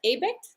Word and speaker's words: Abigt: welcome uh to this uh conversation with abecht and i pronounced your last name correctly good job yeah